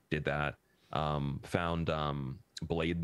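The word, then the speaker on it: Blaidd: that um found um blade there or blyth i guess his name is because like irish or something blyth really or welsh welsh they pronounce they pronounced dd as th th yeah that's what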